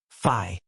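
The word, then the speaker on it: phi: A Greek letter fi pronounced fi.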